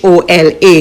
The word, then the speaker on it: hola: ano year and H which is always silent as in hola. You'll get used to these quickly. It's time for us to try it out. It's practice time. H O L A.